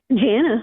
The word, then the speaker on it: Jana: Jana, that's it.